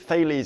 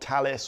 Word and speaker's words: Thales: Thales. It's not Talis or Tales.